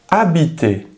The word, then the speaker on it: habiter: No pronunciamos la H. Por ejemplo, en el verbo habiter.